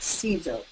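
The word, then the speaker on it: Siser: personally like Cesar brand it's spelled s i s r pronounced like Caesar and this is um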